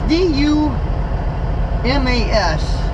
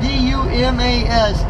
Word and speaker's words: Dumas: town called dumb ass haha taxes actually it's D you mas is how it's pronounced or how it's spelt I guess you can call it dumbest probably or do mass but D you mas dumbass that's how I said it but we're